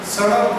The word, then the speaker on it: सड़क: जैसे सड़क को हड़क बोलते लोग, मूल शब्द सड़क, इसको बोल देते हड़प, हड़प, ये शुद्ध उच्चारण सड़क।